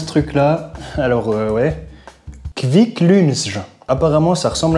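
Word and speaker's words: Kvikk Lunsj: Et comment ça se prononce ce truc là? Alors ouais, Kviklunsj.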